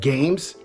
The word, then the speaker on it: GAEMS: you guys remember the company called games which is spelled g-a-e-m-s now if you